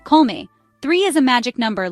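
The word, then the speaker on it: kolme: k me means three say Cole like B and me like you're not feeling well say it with me colme three is a magic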